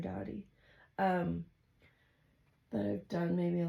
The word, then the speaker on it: Doughty: I think Aaron Doherty has one. I'm saying his last name wrong. Aaron Doughty.